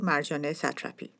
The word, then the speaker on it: Marjane Satrapi: Hello, my name is Soodie Sarooie and I'm here today to present you Marjane Satrapi. And here is the tutorial for the pronunciation of her name.